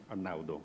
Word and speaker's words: Arnaudo: Actually, the pronunciation of my name is Italian, and that was very good. It was perfect, Arnaudo.